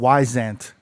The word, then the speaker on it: Wyzant: If you guys want tutoring, like actual tutoring, it's a site called Wyzant. I think I'm pronouncing it right.